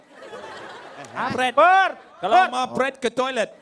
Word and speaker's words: Perth: I'm Pret. Pret. Perth. Kalau mau pret ke toilet, jangan pret di sini ya. Perth maksudnya Perth. Oh, Perth. Ya, dibaca Saya pikir pret.